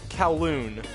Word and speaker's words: Kowloon: It's Kowloon. Because I went around, talked to the NPCs on the other profile, and this lady made the joke of Cow Lung Cracker Park.